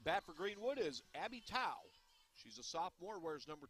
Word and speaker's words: Tao: And at bat for Greenwood is Abby Tao. She's a sophomore, wears number 22. I made the mistake, unfortunately, referring to her as toe, as in tow truck, but no, it's Tao.